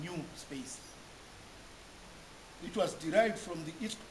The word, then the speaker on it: NuSpace: institutional repository is is is spelled Nu space but is pronounced as new space it was derived from